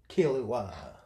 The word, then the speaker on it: Killua: It's Kill, like, Assassin's Kill. Uwa. Killua.